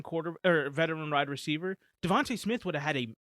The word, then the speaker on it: DeVonta: or veteran ride receiver devonta smith would have had a one of the most like that would have been a career season for for devante smith his name is devonta devonta i say devante i'm not sure i'm